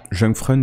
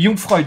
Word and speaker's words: Jungfreud: Jungfreund, non? Les Jungfreud, pardon. Jungfreud, Ouais. merci. La prononciation n'était pas correcte.